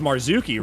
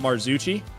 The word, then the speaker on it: Marzucchi: It's Marzucchi, right? Not Marzucci.